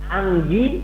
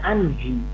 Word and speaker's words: Anggi: Jadi Anggi tidak diucapkan Anji, ya, atau Anhi. Nah, Pak Anhi, Wilujeng Sumping Pak Anhi. Anji. Harus Pak Anggi ya, G.